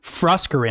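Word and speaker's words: Froskurinn: Froskarin? Froskarin, I believe is how you say it, yes.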